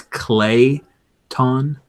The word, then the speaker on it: Clayton: It's Clayton, like a ton of clay.